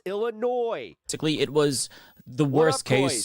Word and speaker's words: Illinois: Stop adding the No more S when pronouncing Illinois. It's like it's annoying. It You annoy me when you mispronounce Illinois.